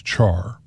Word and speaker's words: char: the integer types include care int short int long int and long long int some people pronounce care as char these are all available